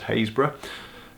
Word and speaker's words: Happisburgh: Happisburgh which I've since been told has actually pronounced haze bruh and thanks John Gibbs and I recorded a